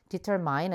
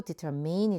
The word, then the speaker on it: determine: 그다음에 determine이라는 단어는 일단은 발음 조심해 주세요. determine 아니고 determine이 되는데요.